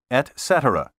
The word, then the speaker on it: etc: the abbreviation etc period take your time and say etc it's sloppy to say etc and even worse to say eksetra you know the eating